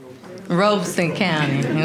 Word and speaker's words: Robeson County: Daddy, how do you pronounce it? Robeson County, okay.